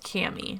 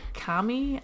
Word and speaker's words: Kami: So, the first one that we're talking about today is, I believe it's pronounced Cami. Some people say Kami.